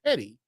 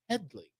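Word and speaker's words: Hedley: on the actress HED Lamar and they keep mispronounced they keep calling him Hedy and he's like it's Headley and then uh history of the world Harvey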